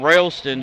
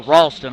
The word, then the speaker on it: Ralston: See, fouls on Railston, his first. Or Ralston, I'm sorry.